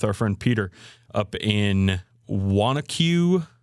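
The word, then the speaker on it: Wanaque: Spa weekend with our friend Peter up in Wanacue, right? Is that how you say it? Yeah, Wanacue, New Jersey. Yeah, I had to ask him how to pronounce that.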